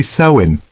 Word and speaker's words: Samhain: The biggest most important transition was marked by a festival called Sam Hine pronounced roughly sewin.